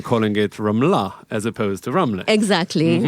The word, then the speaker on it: Ramla: very clear intent of it sounding Israeli, Ramla, with the right syllable being emphasized.